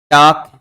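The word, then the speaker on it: talk: टाक, वाक और चाक, इसके अंतर्गत समानता प्रकट करता है कि तीनों के अंतर्गत अंत में ए, एल, के लिखा हुआ है और इनका उच्चारण करेंगे तो एल साइलेंट रहता है, एल का क्या हो जाता है, लोप हो जाता है।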